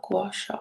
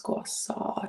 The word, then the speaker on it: gua sha: using my gua saw i found out i've been pronouncing it wrong for a long time so it's not gua sha it's guassaw tools um this is the